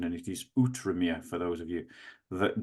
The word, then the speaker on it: Outremer: it's spelt, but I've been corrected on my pronunciation, and it is Outremer for those of you that don't know.